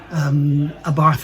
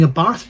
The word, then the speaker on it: Abarth: So I'm going back to saying Abarth because I was told by Gabrielle that Abarth is actually wrong. So there we go. Apparently they say Abarth. They sort of pronounce the arth is arth.